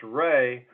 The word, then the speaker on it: Rhea: David Rhea, or actually pronounced Ray, is also a member of the troop at this time.